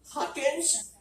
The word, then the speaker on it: Huckins: And now every time I have trouble getting the name across, it's Huckins rhymes with Falcons.